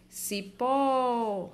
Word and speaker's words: cipó: tônica é a sílaba mais forte onde eu pronuncio com mais força por exemplo Cipó Cipó então o certo é a sílaba mais